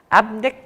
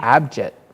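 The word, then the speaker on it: Abhijit: Abnik Naskar. Abnik Naskar is how you say that? Yeah. I don't know. How'd you say it? I think I said Abji. Abjit.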